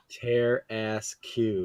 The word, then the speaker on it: Tarrasque: I'm doing random encounters, and this Tarrasque came up. sounds fun. Tear ass Q. Yes, that's the best way to pronounce it.